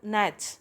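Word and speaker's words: gnats: है छोटे-छोटे कीड़ों का स्मॉल नेट्स जी साइलेंट है हम इसे नेट्स पढ़ते हैं तो छोटे-छोटे जो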